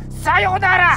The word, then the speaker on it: Sayonara: Four syllable! Sayonara! Sayonara!